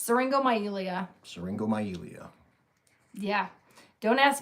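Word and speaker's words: syringomyelia: It's seringo myelia. Seringo myelia. Yeah. Don't ask me to spell it because I can only like write it down.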